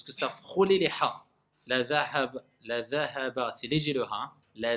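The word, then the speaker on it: الذهب: Et c'est pas la zahaba, hein, parce que certains, quand ils prononcent le dhal, on dirait que c'est le zay.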